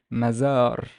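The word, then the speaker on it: مزار: So we would pronounce this one as mazar, mazar, mazar.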